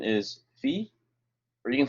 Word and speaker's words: phi: letter the pronunciation is fee or you can say phi but the proper way is fee like feet without the t at the end and then um we're